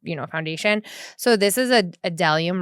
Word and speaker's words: Bdellium: So this is a Delium, right? Because the B is silent. So I used to say Bdellium, but then I got schooled.